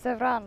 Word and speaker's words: Zevran: I said him wrong. Everyone else says him wrong. He's the only one who pronounces his own name right, it seems. He calls himself Zevran, which is of course correct.